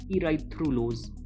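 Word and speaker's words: erythrulose: इराइथ्रोस और जो कीटोटेट्रोस है उसका एग्जांपल है बेटा इराइथ्रोलोज। ठीक है? थोड़ा बहुत इसके प्रोनाउंसिएशन में फर्क है, स्पेलिंग में फर्क है।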